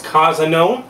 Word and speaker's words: cozunon: This is cozunon. That's cozunon. That's how I pronounce it.